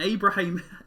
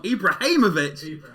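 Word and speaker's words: Ibrahimović: but we found it it's Zlatan Ibraham I'd said it wrong Ibrahimovic Ibraham Josh Haynes everybody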